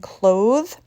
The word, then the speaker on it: clothe: thing with cloth and clothes she uses cloth to make a shirt cloth is used as a noun clothes the voiced sound comes in the verb she can clothe her